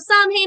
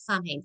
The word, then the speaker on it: Samhain: And then we have Samhain on Monday. So, I'm not Samhain, Samhain. Sometimes I do that. Sometimes I slip into that neo-paganism pronunciation. But Samhain we have on Monday.